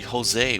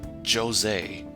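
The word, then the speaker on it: José: His name is It's supposed to be Jose, but they pronounce it Jose. They pronounce the J in his name instead of making it sound like an H.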